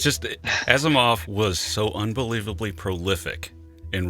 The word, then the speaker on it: Asimov: big three in particular Asimov I remember going to a public library and picking a book off the shelf and I I was so young that I mispronounced the name asminov at the time I